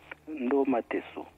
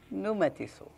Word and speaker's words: Ndomateso: Et vous le prononcez comment? Ndomateso. Ndomateso.